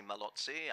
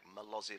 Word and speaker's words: Malozzi: of france stephen malozzi we mustn't say malozzi i'm from the united states in new jersey we say it like malasi like it's spelled he's on row 17